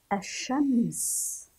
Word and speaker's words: الشمس: ننطق ونرى، أش، اللام موجودة أمامنا، ولكن هل ذكرناها؟ الشمس، الشمس، لم نذكر اللام.